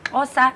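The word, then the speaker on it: Xhosa: Can you guys speak Osa? Is that how you pronounce it? Osa. Yeah. Osa. Osa. I'm actually wearing a Kosa cap.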